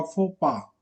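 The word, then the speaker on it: faux pas: श्रीपति जी pronunciation बताना, exact pronunciation होगा फोपा।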